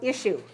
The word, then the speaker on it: issue: we have the word issue it also has sha okay so notice that this spelling i-s-s-u-e doesn't sound like s it sounds like shu tissue tissue tissue any